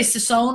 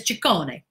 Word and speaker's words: Ciccone: I say Sissone because it's easier to pronounce that way, but his name is Ciccone because he's Italiano.